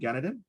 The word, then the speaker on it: Ganaden: let me unmute representative ganadin there you go rip okay my name is sunny ganadin if you pronounce it the kilikano way um i had an